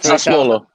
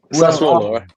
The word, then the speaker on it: Sassuolo: that Arsenal have made an official bid, but Sassuolo, I'm not saying that right. Do one of you want to pronounce it for me? No one? No, let me find right. Sassuolo. Sassuolo.